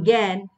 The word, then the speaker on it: জ্ঞান: তো শব্দের শুরুতে যুক্ত ব্যঞ্জন দেখা যায় যে এই যে তোমরা দেখতে পাচ্ছ গ আকার থাকলে তখন কিন্তু আমরা এ উচ্চারণ পাই। যেমন এখানে জ্ঞাত যেমন জ্ঞান যেমন জ্ঞাপন। তো এগুলো কিন্তু এ উচ্চারিত হয় কিন্তু আ উচ্চারিত হচ্ছে না।